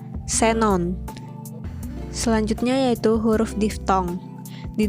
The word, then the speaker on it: xenon: dari dan keperluan ilmu huruf x pada posisi awal kata diucapkan es yaitu Seperti contohnya Xenon selanjutnya yaitu huruf diftong